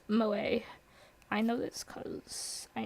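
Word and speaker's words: 萌え: Clumsiness or ditziness, also used to refer to the culture of entertainment centered around characters who possess such traits, pronounced Moe.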